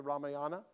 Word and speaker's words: Ramayana: Again, I don't have time to tell you the whole story, but do any of you know the Ramayana, or sometimes pronounced the Ramayana?